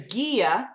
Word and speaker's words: guía: And then there's guia, G-U-I, with a little accent mark.